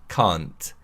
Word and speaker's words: can't: Can't is a contraction of cannot and it's pronounced can't. Can't. The key to pronouncing this word correctly is that the vowel sound should be a long vowel sound rather than a short vowel sound.